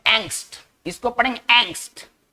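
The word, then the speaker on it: angst: इसको पढ़ेंगे एंग्स्ट। ये इंग्लिश में इस्तेमाल होने वाला बहुत ही फ्रीक्वेंट वर्ड है, आप ऐसा समझिए, ठीक है ना। एंग्स्ट का बहुत ज्यादा इस्तेमाल होता है। एंग्स्ट एक जर्मन वर्ड है, आप ऐसे समझिए, और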